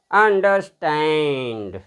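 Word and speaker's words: understand: स्टैंड देखिए बोलते हैं तो देखिएगा मैं इसका उच्चारण कर रहा हूं अन डर स्टैंड जब बोलेंगे तो कैसे बोलेंगे? अंडरस्टैंड ऐसे बोलते हैं आपने सुना होगा जनरली बीबीसी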